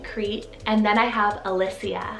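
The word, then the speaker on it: Elysia: name in ancient crete and then i have alicia spelled e-l-y-s-i-a alicia and this one means from elysium or island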